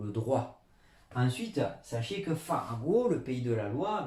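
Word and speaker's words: 法国: Mais si on dit je suis français, on va plutôt dire, ou la France, on va dire Faguo.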